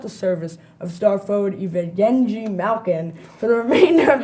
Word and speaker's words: Evgeny: I believe you were thinking of Evgeny Malkin. Evgeny, okay.